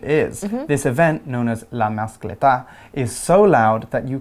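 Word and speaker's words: La Mascletà: OK，那我们这边看到另外一个很常用的片语 known as，就是被称为或以什么身份为人而知的，所以这个活动被称为 La Mascleta. Is that how it is pronounced?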